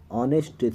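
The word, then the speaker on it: honest: ऑनेस्ट मतलब ऑनेस्ट लिखा है। यह हनेस्ट नहीं पढ़ते हैं। यानी ह अगर आता है तो ऑनेस्ट का नहीं होगा। जैसे बी का उच्चारण करने पर डाउट में बी नहीं आता है। उसी प्रकार एच का उच्चारण करने पर ऑनेस्ट में एच का उच्चारण ह नहीं आता है। इसलिए ऑनेस्ट आंसर होगा इसका।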